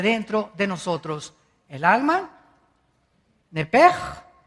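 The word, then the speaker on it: נפש: Esa palabra alma es la palabra hebrea nepesh, así como suena N-E-P-E-S-H, nepesh. La palabra, la letra o las letras SH en el hebreo se pronuncian en hebreo como J. Entonces se pronuncia nepej.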